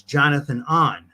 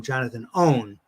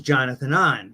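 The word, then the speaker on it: Jonathan Ohnn: but you know the characters secret identity is Jonathan an right and I've heard that I've heard that mispronounced on the Marvel uh cartoon shows and stuff where they they call him Jonathan own because it's spelled o hn but it's I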